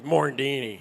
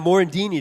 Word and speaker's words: Morandini: mentions my name on the radio, he goes mandini. That's all he says. Morendini. You know, Morandini today or Smother, one of the other.